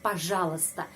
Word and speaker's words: пожалуйста: Dan sudah ada tradisi untuk mengucapkan kata пожалуйста. Kenapa huruf I tidak dibaca? Ahli bahasa Rusia menjelaskan huruf I tidak dibaca hanya untuk memudahkan pengucapan.